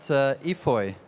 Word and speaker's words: EFOY: And please tell me more about EFOY. What does it stand for? Am I pronouncing that right?